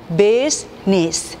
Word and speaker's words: business: 마찬가지로 비즈니스 이렇게 4개의 소리를 말하지만 실제 보시면 business.